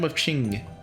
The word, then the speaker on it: Qing: Today the horsey company will be performing a thrilling fantasy, a beloved tale from the eastern kingdom ofQing. I believe it the Q is pronounced like chip.